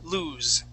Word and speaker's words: lose: He would lose his pants with a Z or the voiced S, lose.